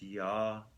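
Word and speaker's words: יה: Now the Yud-Kei Vav-Kei of Keter is pronounced with a ah sound, so it's Yah.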